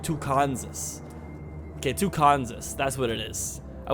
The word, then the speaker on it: Tucansas: a c two Kansas or we should like pronounce it really weird like tanas okay tucanus that's what it is I wish I could put a little axent over the a or something tucanus welcome to the beautiful town of tucanus in